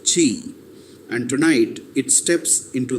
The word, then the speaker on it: Qi: Traditional Chinese medicine calls this third force Qi, pronounced Qi, and tonight it steps into the light.